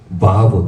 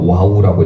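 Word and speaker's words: ו: 그리고 여섯 번째는 바브 또는 와우라고 읽는데, 예전에는 와우라고 읽었는데 지금 바브라고 읽습니다.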